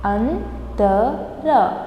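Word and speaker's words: अंतर: Antara. Antar is difference. Andar. Andara. Andar is inside. You should be very careful while pronouncing antar and andar. This is ta and this is the.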